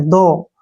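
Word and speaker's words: though: दोबारा से बताता हूं टी एच ओ य जीी एच इसमें यूजी एच का उच्चारण नहीं करेंगे टी एओ को पढ़ेंगे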